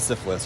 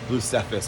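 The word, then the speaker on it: Blu Cepheus: don't know that actually it's not syphilis or cepheus it's blue cephis I believe um full carbon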